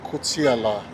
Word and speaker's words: Koutiala: So this street to my right is also leading into residential neighborhood, and it's called Kotiala. Kotiala. Kotiala Street is spelled Koutiala.